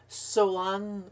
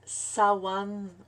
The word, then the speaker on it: Samhain: on il se prononce on dit qu'il se prononcerait swan ou sawan ou samhain pour ma part je veux dire ça mène donc l'année celtique débute